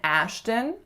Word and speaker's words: Ashton: So in Ashton, make sure your first vowel is really a tense a sound, and the second vowel is a schwa.